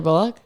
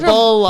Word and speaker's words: Bullock: Are you saying Bullock? Isn't that how you say it? It's like a bullock. Bullock. It's like almost like luck. Like l U C K.